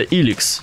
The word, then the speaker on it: Elex: Во мне не осталось ни крупицы Эликса. Кстати, по идее говорится Иликс. Ну, то есть произносится.